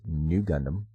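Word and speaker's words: ν Gundam: on a mural raise RX 93v Gundam pronounced new Gundam that appeared in the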